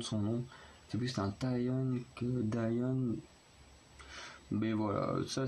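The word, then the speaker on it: Dahyun: a un D, c'est Dayon, mais du coup ça se prononce plus comme une sorte de T, enfin c'est assez bizarre la prononciation de son nom. C'est plus un Taeyeon que Dayon.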